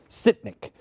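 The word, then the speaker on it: Sytnyk: Sitnik.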